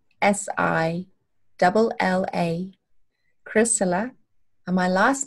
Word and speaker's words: Chrysilla: course it's ch AR y SI double la Kris Allah and my last name is spelled le w i es okay very cool